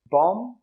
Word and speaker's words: bomb: All of them have a silent B, but the pronunciation of the vowel is a little bit different. Bomb, comb, and tomb.